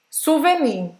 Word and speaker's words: souvenir: Presta atenção que esse E aqui faz a boca do O e fala E. Não é souvenir, como a gente fala, tá? Souvenir. E esse R precisa pronunciar.